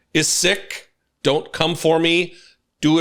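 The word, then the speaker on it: Sikh: While sick communities often referred to or pronounced sik, but the actual pronunciation is sick.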